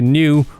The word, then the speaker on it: Neue: Simple sans serif typefaces are commonly used, so I'm using Helvetica Neue or Neue if I was to try and pronounce it right.